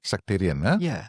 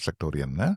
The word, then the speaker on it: sectarian: Sectarian sectarian. Not sector.